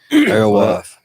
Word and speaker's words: alewife: Alewife.